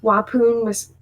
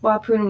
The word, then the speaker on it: Waupun: And then a maximum security facility in Waupun, I believe that's how it's pronounced, Waupun, Wisconsin.